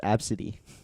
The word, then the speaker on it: ABCD: I know that somebody's name is ABCD though. Shut up. Yeah, it's pronounced Absidy.